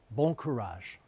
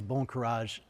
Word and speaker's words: bon courage: on my darkest days bond courage it rhymes with another phrase you probably know bon voyage the inspiration in this phrase bon courage is a little bit